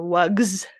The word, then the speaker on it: wugs: of wug is voiced, that voicing carries over and changes the S that we view as pluralization into a Z sound for wugs instead of Mhm.